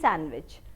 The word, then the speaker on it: sandwich: I love cheese sandwich. So यहाँ पे D is silent, so it is sandwich, sandwich.